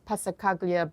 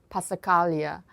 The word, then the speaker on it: Passacaglia: I say in the course Passacaglia, but one of my German students said that's not right. So I do want to share the correct pronunciation. I think I got it now. Passacaglia.